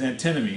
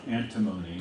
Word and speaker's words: antinomy: greek also antinomos and i'm giving you the pronunciation there because it's not antimony that's chemical element 51 i think uh and